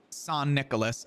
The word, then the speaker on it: St. Nicholas: It was a pizza place called St. Nicholas. Pronounced San Nicholas.